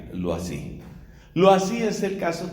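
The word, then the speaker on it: Loisy: ella era su apellido como es un nombre francés entonces tenemos que pronunciar lo no así g l eau y latina s y lo así lo así es el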